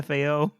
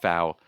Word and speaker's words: FAO: Can I call you FAO? Sure, why not? It's pronounced Fow.